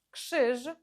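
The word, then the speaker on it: krzyż: читається завжди як ж Але якщо воно стоїть після літер капет т ф х то Воно читається як ш поєднання звуків кш ш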